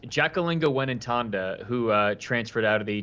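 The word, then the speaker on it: Mwenentanda: kill to try to hear you try to pronounce it. It's the first 3 letters are NDJ. It's Jacqueline Wenentanda, who transferred out of the Texas program as well.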